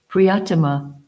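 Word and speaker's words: प्रियतम: So the first thing that Srila Prabhupada emphasizes from this verse is the word Priyatama. Is that pronounced correct? Have I pronounced it correctly? Priyatama.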